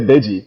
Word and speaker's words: Deji: No, to say Deji, you know, it's a day in the GI, you know.